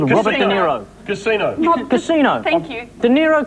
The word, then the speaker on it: De Niro: Robert De Niro, which rhymes with Zemiro.